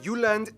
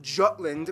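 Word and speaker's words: Jylland: Denmark is made of the uhland not Jutland Peninsula that connects with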